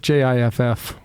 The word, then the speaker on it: GIF: aluminium aluminium engineer a gif analyst but GIF Jiff sorry that is the proper pronunciation of GF as well is it as